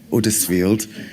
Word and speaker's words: Huddersfield: West Yorkshire, in Huddersfield, and we say it like that, don't we? Huddersfield. I don't know where the H goes, but it's really strange.